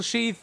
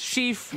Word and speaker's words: sheaf: need is a single sheath of rice it's actually pronounced Sheaf but I'm dumb don't worry